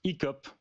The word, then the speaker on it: Icop: Icop. I C O P. Exact. Ça s'écrit comme ça, voilà. Comme ça se prononce.